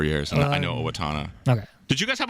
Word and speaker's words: Owatonna: Well, it helps that I lived there for 4 years, and I know Owatonna. Okay. Did you guys have a maid right in Owatonna, or not so much?